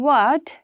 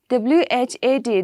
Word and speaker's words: what: See, the silent word H. See, in what? W-H-A-T. The spelling is W-H-A-T. What, right? But H is silent, right? H is silent, and instead of saying what, we say what, right? So H is a silent word, okay?